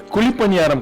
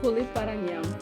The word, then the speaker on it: Kuzhi paniyaram: Kuli paniyaram, Kyle. Kuli paranyam. Kuli. Kuli paniyaram. Yeah. Kuli palaryam.